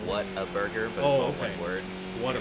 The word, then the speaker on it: Whataburger: pretty famous Water Burger it's a what like what a burger if you're protected you say it like Whataburger okay yeah so